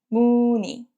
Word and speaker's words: 무늬: And 무늬. 니은 with the 의 together, we pronounce it 무늬.